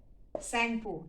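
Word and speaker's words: Tsangpo: in india in assam sangpo tea is silent t s-a-n-g-p-o sanko in china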